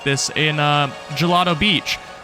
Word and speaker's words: Gelato Beach: like this in uh Gelato Beach, which as a child I always pronounced Galileo Beach, which I still still think sounds better. Uh and you could climb around here and get coins and it was cool.